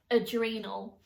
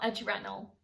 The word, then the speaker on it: adrenal: a serious topic but it is adrenal not adrenal even though that's how it's spelled that's not how it's pronounced so i just wanted